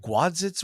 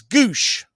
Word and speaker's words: Gwosdz: What is it? Gwadzitz? What's it? What is his name? It's Goosh. You pronounce it Doug Goosh.